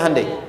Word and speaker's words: Hyundai: bikin Honda sini hundai Hyundai kan dibacanya hundai kan sana Honda sini